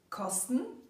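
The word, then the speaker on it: Kasten: The words we will look at now are: the box - pronounced "Kostn"; the robe - pronounced "gwond"; the dung bucket - pronounced "dung bucket/dung bucket"; this year; the bag and the roll.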